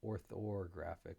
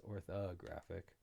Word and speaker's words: orthographic: know why but um I pronounce it with an oror graphic but it's orthographic um and we are